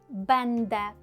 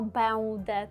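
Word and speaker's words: będę: Носові звуки ми будемо читати з вами як з літерою н, наприклад, бенде. Чуємо там н бенде. Ми не кажемо беуде, так, не затягуємо нічого, а чуємо там чіткеньке ен бенде чи тенд.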